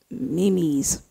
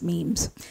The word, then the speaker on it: memes: pronouncing it right okay i think it's it's spelt mimi's but you know it's it's actually pronounced memes and um memes yeah